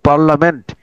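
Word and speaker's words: parliament: এই পার্লামেন্ট বানানটা খুব গুরুত্বপূর্ণ, পার্লামেন্ট মনে রাখবেন, পার্লিয়ামেন্ট উচ্চারণ হবে পার্লামেন্ট, কিন্তু আমি মনে মনে চিন্তা করবো পার্লিয়ামেন্ট, পার্লামেন্ট, Right.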